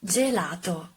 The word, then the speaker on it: gelato: because you like it the correct pronunciation is gelato and remember that when